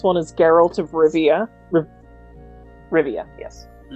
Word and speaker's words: Rivia: is geralt of rivia rivia yes i wanted to add an extra syllable in there uh in general he